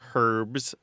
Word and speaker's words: herb: or green things or herbs herbs and was barred into old French with the H intact and in French though they don't pronounce the h so the pronunciation was